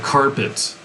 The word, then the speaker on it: carpet: So like, let me think of like carpet. The emphasis is on the first syllable, carpet. And then we say the second part very soft, pet, and that's like carpet.